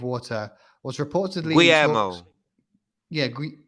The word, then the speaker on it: Guillermo: but I'm still not sure how you pronounce it. And The Shape of Water was reportedly in talks. Guillermo. Yeah, Guillermo probably.